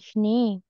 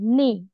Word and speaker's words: Schnee: Im Winter bei Bei Schnee, Schnee. Ja, bei Schnee, Schnee. Kunden. Schnee, Alex, Schnee. Schnee, Schnee. Nee, nee, bukan nee, nee, nee.